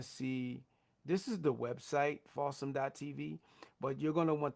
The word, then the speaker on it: Fawsome: Fawsome TV. It's spelled like awesome with the letter F.